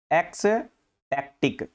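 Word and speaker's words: ecstatic: Spelling ध्यान रख लेना इसकी, ये ECS, एक्स बोलना है इसको, और टैक्टिक, एक्स टैक्टिक, एक्स टैक्टिक।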